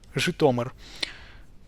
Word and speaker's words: Zhytomyr: So J, I, Tom, I, R, Zhytomyr. Zhytomyr, actually, yeah, the emphasis is here, just in case.